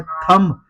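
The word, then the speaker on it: thumb: कॉम में भी B silent है। थंब थंब में भी बी साइलेंट है।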